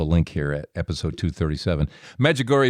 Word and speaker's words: Medjugorje: magic gory is spelled just like it sounds Smiles there Med like